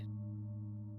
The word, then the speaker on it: Fey: fae. What? No, not you. Oh, sorry. This is all kind of like new to me. Fae, like Fae, but it's spelled F-E-Y, but it's not like your F-E. Fae, but Oh, Fae, but